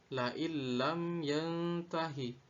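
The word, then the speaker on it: لئن لم ينته: lain lam yantahi, tetapi nun mati ini seakan tidak pernah ada, sehingga cara bacanya adalah lain lam yantahi. Jika idgham bi gunnah tadi disertai dengan dengung, maka dalam idgham bila gunnah tidak disertai dengung, sehingga tidak boleh dibaca la illam yantahi, tapi harus dibaca la illam.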